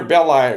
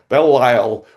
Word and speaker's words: Belle Isle: So today we have Peter Bell I Bell Bell I with with us. I said it wrong. Bell Lyle with us and Peter, it's great to have you.